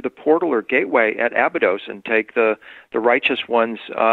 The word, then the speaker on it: Abydos: Abydos? Yeah. It was the gate of Osiris. It was, at Judgment Day, the Egyptians believed that Osiris would come back through the portal or gateway at Abydos and take the righteous ones into the dimension